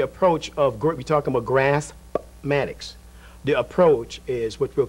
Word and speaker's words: Graspmatyx: You've come up as a new term, a new way of teaching math, and you called it Graspmatyx. I'm glad you pronounced the P.